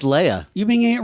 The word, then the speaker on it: Leia: Lee I mean here's the thing though it's Leia yeah it's Leia you being it wrong all these years like